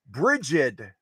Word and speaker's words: Brigid: wrong circles but her first name is Bridget not Bridget Brigid Brigid which is spelled